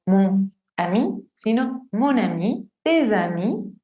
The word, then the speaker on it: tes amis: Por ejemplo, mon ami, no mon ami, sino mon ami, tes amis, suena como z, tes amis y ses enfants.